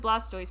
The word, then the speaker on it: Blastoise: good point um i would pronounce it blastoise because i don't hate life look at their